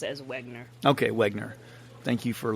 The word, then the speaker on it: Wegener: I think you can pretty safely pronounce it as Wegener.